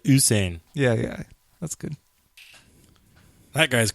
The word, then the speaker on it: Usain: Oh, not Hussein. I said Usain.